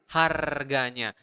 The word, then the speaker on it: harganya: The price is harganya. Remember in Bahasa you really pronounce the R, so you need to roll your tongue and make that sound. Harganya, harganya. Okay, not like price.